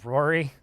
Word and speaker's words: Rory: No, I'm definitely saying Rari. Is definitely what I'm saying. Although I think it's actually pronounced Rory. Like, R-O-R-Y is how it's pronounced.